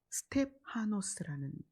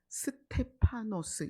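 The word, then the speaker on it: στέφανος: 그래서 헬라어로 찾았더니 스텝하노스라는 발음이에요. 스텝하노스도 있고 워터 이렇게 하는 것처럼 스테파노스 이렇게 부르기도 해요.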